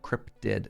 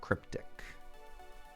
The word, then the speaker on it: cryptid: That's how you pronounce that word. That's a cryptid, not cryptic.